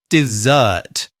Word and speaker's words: dessert: Do that is stressed on the second syllable and have a non uh vowel sound like a her. Do that. Dessert.